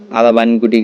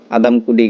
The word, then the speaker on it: আদামকুটি: আদা বাইনকুটি গাছ। এটাকে অনেকে আদা বাইনকুটি বলে। এটার শুদ্ধ উচ্চারণ হচ্ছে আদামকুটি গাছ।